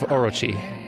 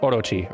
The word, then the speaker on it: Orochi: I guess it's technically pronounced like Orochi or something like that, but I can't get that R sound exactly right the way it's supposed to sound in Japanese.